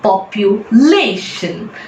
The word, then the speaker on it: population: In a word that ends in TION, all words in English that ends in TION, the second syllable from the right will be told more strongly. It's always population.